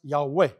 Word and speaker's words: Yahweh: Yahweh it's pronounced Yahweh.